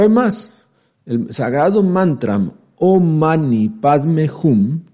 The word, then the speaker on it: Om Mani Padme Hum: El sagrado mantram omani padmejum, que ya dijimos se pronuncia omasi padmeyom, equivale a los dioses